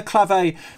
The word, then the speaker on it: clave: gets swapped with a clave uh i've found out that's how you put supposed to pronounce it not clav like i've been pronouncing it my whole life so i i wonder